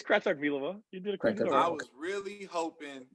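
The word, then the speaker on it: Kratochvílová: It's Kratochvilova.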